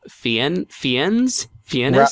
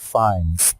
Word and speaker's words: Fiennes: Let's see, played by Ralph Fiennes? Ralph Fiennes. It's spelled...